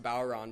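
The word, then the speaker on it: bodhrán: its first of all it is not spelled phonetically at all it's pronounced bow Ron but it is spelled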